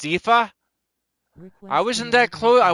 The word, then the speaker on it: Aoife: It's pronounced Ifa.